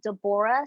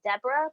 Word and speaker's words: Deborah: name of the judge her name is de Bora sometimes they pronounce her name Deborah both words you know um and